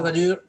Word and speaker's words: Valur: And for those that are confused, then Valur is spelled V-A-L-U-R, or just Valur.